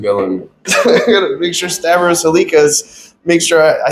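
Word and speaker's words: Stavros Halkias: I gotta make sure Stavros Halikas, make sure I say his name right. Stavros Halkis.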